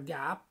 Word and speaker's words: GAAP: No, the acronym is pronounced as GAAP or GAAP.